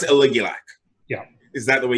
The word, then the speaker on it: Aligulac: Personally, I would say Aligulac.